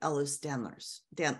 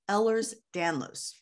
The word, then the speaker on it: Ehlers-Danlos: follow for instance loose connective tissue disorders like ehlers danlos now Patty you also are quite familiar with Ellis stanlers Dan I always say it wrong ehlers danlos yeah mine is the hypermobility so I've got